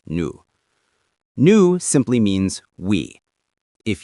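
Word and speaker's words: nous: That is new. That is n o u s. You don't pronounce the s, just new.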